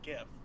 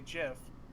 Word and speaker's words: GIF: feel like except there's only one way to say gif if you say jiff you're degenerate i agree i don't